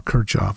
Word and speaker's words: Kirchhoff: His name is generally pronounced Kirchhoff, or Kirchhoff, probably more Kirchhoff. I usually pronounce it wrong. Sometimes Kirchhoff. I've heard lots of both ways.